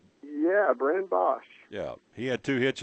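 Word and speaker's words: Boesch: Young man by the name of Bosch. Did I say it? BOE SC. Is that how you pronounce his name? Yeah. Brennan Bosch.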